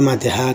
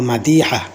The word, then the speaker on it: মাদিহা: মাদিহা শব্দ যদিও বাংলাতে বলা হয় মাদিহা। কিন্তু আরবিতে সঠিক উচ্চারণ হলো মাদিহা।